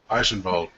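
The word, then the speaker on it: Eichenwalde: Where's the V? That's the V.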